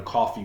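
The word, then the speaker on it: Coffey: then they have a coffee grain and a coffee mug now coffee for that is called is spelled c-o-f-f-e-y it is actually referring to the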